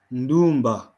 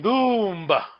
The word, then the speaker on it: Ndumba: Ndumba. Well done. Ndumba. Ndumba means Young girl. young girl, yes. Ndumba, beautiful and young girl, yes. So the emphasis is on the U, right?